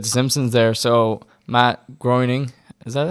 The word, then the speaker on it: Groening: So Matt Groening, is that how you pronounce his name?